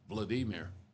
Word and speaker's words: Vladimir: It's technically should be pronounced Vladimir. Oh. Because Russian. And same thing for what's the Zelensky's first name in Ukraine? It's not Vladimir, but it's close. But anyway, yeah, in Russian, apparently the second syllable gets the emphasis.